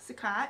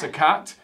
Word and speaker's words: Sukkot: This is pronounced, what would you say there? Sukkot? Sukkot, yeah. Sukkot, S-U-K-K-O-T, Sukkot beard oil.